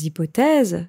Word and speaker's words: hypothèse: Attention ici à la prononciation de hypothèse, ça s'écrit avec un H, comme en anglais avec hypothesis, mais en français, on ne prononce pas le H.